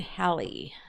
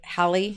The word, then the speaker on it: Halley: so go ahead and write down Englishman Edmund Halley I always heard it Halley growing up and then when they became an adult and listened to some of the scientists discussing it and they pronounced it hey Hallie and I'm like oh so I've been saying